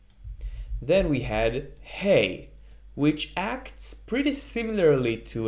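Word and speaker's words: ה: The only difference is in the pronunciation, that is, that Hey is like an Aleph, but with more air coming out of the throat.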